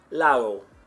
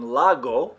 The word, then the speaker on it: lago: If you've been saying agua, or for lake, you've been saying lago, right? It's spelled L-A-G-O. Lago, you've been saying it incorrectly. And you're not going to hear it that way. You're going to hear lago.